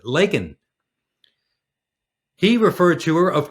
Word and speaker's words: Laken: people her name is Laken Riley like Lake the word lake with an N on the end of it Laken he referred to her of course as Lincoln like Abraham Lincoln Riley